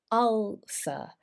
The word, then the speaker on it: ulcer: listening carefully well it's ulcer so this is an all not a u but it's like up up the r in British English is very weak so we would say